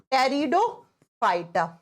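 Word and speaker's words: Pteridophyta: पे आता है टेरिडोफाइटा लिखा जाता है पी से प्रोनाउंस किया जाता है टी से टेरिडोफाइटा हिंदी में सेम नाम है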